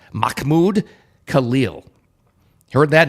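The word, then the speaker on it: Mahmoud: it involves another character Mahmud I'm sorry it's pronounced mmud Khalil heard that name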